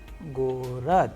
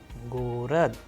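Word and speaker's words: город: Now, we have another Russian word gorod, gorod, which means city. Here you can pay attention that how the letter G is being pronounced in the word gorod, which means city.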